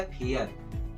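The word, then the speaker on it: fair: देखिए यहाँ पर ए आई के बाद आर है तब उसका उच्चारण एयर होता है। क्या होता है? एयर। तो फ में लगा एयर तो क्या बन गया? फेयर।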